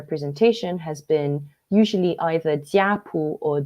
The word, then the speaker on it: jiapu: So the word that I've been using in my presentation has been usually either jiapu or zupu. I'm using the Mandarin Chinese pronunciation here, which literally means family book or clan book.